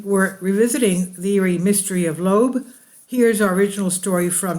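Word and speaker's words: Loab: and a disturbing gas her name is lobe pronounced like lobe earlobe she and she was discovered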